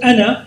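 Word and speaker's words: أنا: You have to change the foundation of the ilm of the Tajweed, because word ana, so you have to say it very quickly.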